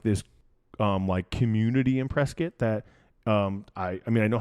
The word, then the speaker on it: Prescott: You don't know Prescott, even though Prescott is not Prescott, by the way, guys. It's Prescott. Yep. Even though phonetically that doesn't make any sense at all. No. The way it is written is definitely Prescott.